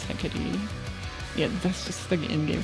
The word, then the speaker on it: Hecate: They say Hecate in-game, so that's how I pronounce it, but I know it's Hecate.